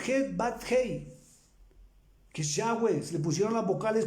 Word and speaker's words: Yahweh: El nombre de él es en hebreo, Yahweh, Y-A-H-W-E, Yud Het Bat Hei sería Y-H-W-H, porque realmente no tiene vocales. Se pronuncia Yud Het Bat Hei, que es Yahweh.